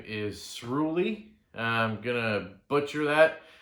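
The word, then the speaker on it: Sruli: this guy's name is shroolie i'm gonna butcher that it's kind of like unruly but with an s-r-u-l-i s-rooly that's his name sorry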